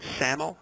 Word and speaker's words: SAML: The final thing I'll mention here on this slide is that ArcGIS Online supports Security Assertion Markup Language, or SAML as it's pronounced, for configuring enterprise logins.